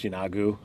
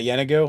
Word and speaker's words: Yeenoghu: I have to assume, however Matt says it, is the way it's going to be said, no matter what, because they're using his voice and Mercer's voice on D&D Beyond, I believe, for the pronunciation guide.